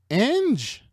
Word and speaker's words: ange: Ange. This dude wears a black shirt. How do you say angel in French? In French, you would say ange. Ange.